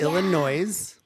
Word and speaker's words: Illinois: other than that you don't know how to pronounce ill illo it's Illinois no it's not and it's Kansas what are